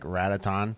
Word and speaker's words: Ratatan: So if one is called Patapon, wouldn't you guess that it's like Rataton? Rataton? I would. Sure. Ratatan.